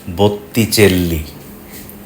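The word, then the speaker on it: Botticelli: এর মধ্যে বুঝে গিয়েছেন ইতালিয়ানে ব্যঞ্জন বর্ণের দিত থাকলে সেটা উচ্চারণেও চলে আসে এখানে দুটো টি আছে বলে নামটা বুত্তি আর দুটো এল আছে বলে নামটা চেল্লি ইউরোপের অন্য ভাষায় কিন্তু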